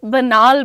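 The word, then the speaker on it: banal: अ आयुष पांडे बनाल की spelling is बी ए एन ए एल। बनाल बोलते हैं उसको घिसीपटी बातें।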